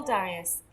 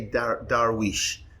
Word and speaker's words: Dariush: have checked don't worry arabs say darwish but darius is a persian king but i think in england they say darius darius yeah so how